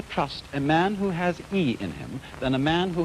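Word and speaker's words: 義: call not law but justice this word is pronounced e i and justice in this sense corresponds rather to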